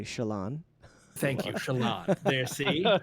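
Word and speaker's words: Shallan: but I still I I was really drawn to Shon yes or as the audio listeners will say Shalon thank you Shalon there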